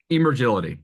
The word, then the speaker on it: Emergility: What is E- the correct pronunciation? Emergility, yes.